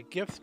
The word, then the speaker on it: GIF: really good um before that based on a gift that I saw and yes I pronounce it gif because I'm not a monster